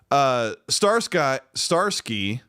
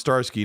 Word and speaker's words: Starsky: Starsky says, my name is pronounced Starsky, not Star Sky, by the way.